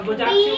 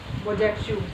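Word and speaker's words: Bojaxhiu: और प्लेटिव की स्पेलिंग याद हो गई। GONXHAIOU XH सही सुना। गोंगछा और बुजाक्षु। BOJAX S नहीं हो X HIU बुजाक्षु।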